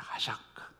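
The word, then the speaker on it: חשק: 하샤크. 한번 따라해 보실래요? 하샤크.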